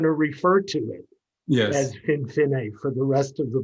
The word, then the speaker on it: Finfinne: But how do you say Finfinne? How do Finfinne?